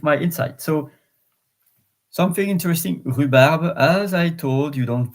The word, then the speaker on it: rhubarbe: Well, I don't know if in English you are saying rhubarb or rhubarb, but it's just to know that the H is silent in French, and at the beginning of the word also.